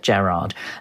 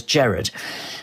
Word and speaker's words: Gerard: And he he taught us how to say his name because he said that only southerners said Gerard and that his name was Jared.